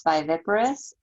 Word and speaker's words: viviparous: to say this word the way that you say it is by viparous and i just looked